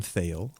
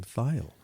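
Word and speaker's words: Thayil: ever it's not Kim fail it's Kim file well it looks like fail because it's t-h-a-y-i-l fail but it's actually pronounced file oh my goodness and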